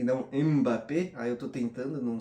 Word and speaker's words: Mbappé: Eu escutei inclusive um cara que ele é da África falando que se pronuncia Mbappé e não Mbappé.